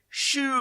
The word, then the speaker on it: choux: Choux pastry. Choux. If you spell it S-H-O-E or S-H-O-O, absolutely fine.